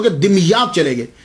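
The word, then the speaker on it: دمياط: तो ये सैयद जमालुद्दीन साउजी फिर वहां से मुंतकिल हो गए, दिमयात चले गए। इसके बहुत सारे प्रोनाउंसिएशन हैं, लेकिन सबसे जो आसान है वो मैं आपको बता रहा हूं, दिमयात। ये दिमयात जो है ये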